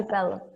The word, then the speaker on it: develop: Pero Develop, la palabra develop. Develop. Okay, Gracias. It's between I and E, it's a schwa, develop.